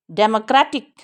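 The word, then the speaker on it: democratic: कई साउंड दे रहा है ये, इसको, ये देखो, इसको स्प्रेड करेंगे, रै पे पूरा मुंह खोलेंगे। इस टी को नहीं करेंगे क्योंकि इस पे स्ट्रेस नहीं है। डै को जल्दी से पढ़ेंगे, स्कैंडी स्ट्रेस है।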